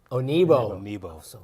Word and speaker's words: Onuigbo: Onuigbo. The G is silent.